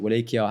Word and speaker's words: Wallachia: Wallachia was basically, or some people pronounce it Wallachia, however you want to pronounce it, they were another vassal state to the Ottomans.